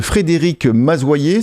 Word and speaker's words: Frédéric Mazoyer: Voilà, il s'agit donc de Frédéric Mazoyer, c'est comme ça qu'on prononce bien ton nom, je dis pas de bêtises?